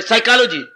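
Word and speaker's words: psychology: जो है साइकोलॉजी साइकोलॉजी साइकोलॉजी को हमारे मास्टर जी हसाया करते थे स्पेलिंग ना याद करने पड़ेंगे तो आपको फसाई चलो जी पीएस वाई सी एच O yellow जीवाई पीएस वाई फसाई चलो सी एच ओ चलो जी जी वाई फसाई चलो जी एक बार जिसको मनोविज्ञान समझ आ गया सारे संसार को फसा लेगा जो संसार में उझा हुआ था वो संसार को फसा लेगा फसाई चलो या साइजी पए साइलेंट ये यहां से शुरू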